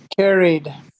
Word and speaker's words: carried: realidad la E del ED no suena. ¿Se dieron cuenta? No suena. O sea que no es carried y no es placed.